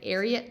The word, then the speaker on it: Ariat: I've had pretty decent luck with the Ariat, I'm trying to say that right, Ariat Tech. Someone said they heard it on a commercial and that's how you say it.